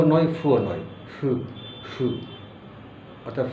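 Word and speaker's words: ふ: দুইটার মাঝে যেমন হু ও নয় ফুও নয় ফু ফু অর্থাৎ ফু দেওয়ার মত একটা উচ্চারণ ফু ফু যার কারণ এটা অনেকে হু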